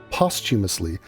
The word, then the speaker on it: posthumously: The silent H in posthumously, I mean, I'm not even saying that, like, this is a common blunder.